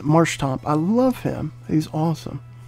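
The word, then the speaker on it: Marshtomp: I want to say Marsh Stomp, but that's not right.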